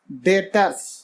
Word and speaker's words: debtor: अगले हमारा टर्म में बेटर इसमें यह बींस साइलेंट रहता है बेटर मैं किसी का